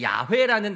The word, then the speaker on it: 야훼: 바로 야훼입니다 야훼 그러니까 야훼라는 단어도 많이 들어보셨죠 어디에서는 여호와라고 하고 야훼라고도 하는데 더 정확한 발음은 사실 야훼라고 합니다 그런데 이게 밝혀지게 된